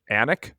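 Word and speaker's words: Alnwick: All right, where are you staying in Anik? Did I pronounce that correctly?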